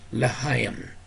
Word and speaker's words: L'chaim: He also learned about the numerical value for the Jewish sign for life, pronounced L'chaim.